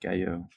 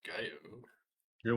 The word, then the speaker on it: Gallo: So, yeah, Gallo and Gallo, but not enough people know how to say Gallo instead of Gallo. I mean, obviously it's pronounced Gallo.